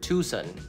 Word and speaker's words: Tucson: that's that's how I said it New Orleans Tucson Tucson Tucson Tucson common popular pronunciation Prevail local person in Tucson Tucson right